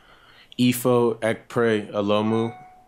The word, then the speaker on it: Ekpre-Olomu: yeah okay can you pronoun your name and spell it for our bed spellers back here EO pray ALU ifo hold on my fault let me turn